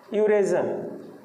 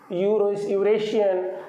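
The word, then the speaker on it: Eurasian: यहाँ पे देखिए एक वर्ड है यूरेजन। इसमें स्टार्ट तो हो रहा है वोवेल लेटर से, लेकिन इसका जब प्रोनाउंसिएशन है वो यू से शुरू होगा, यूरेशियन या यूरेजन जो भी आप कह सकते हैं।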